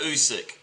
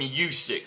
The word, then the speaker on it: Usyk: Well, a lot of people call him Usyk. They put a Usyk. It's not. It's Usyk. It's Usyk. Yeah.